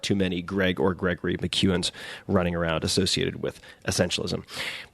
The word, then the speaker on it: McKeown: So, I want to share two chapters from that book with you read by the author Greg McKuan. Gregory McKuan on Twitter. Let me spell that for you.